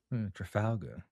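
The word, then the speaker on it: Trafalgar: Trafalga Square. Trafagler. Trafalga. Trafalger. Trafalga. It's pronounced exactly how it's said. How it's written, I should say.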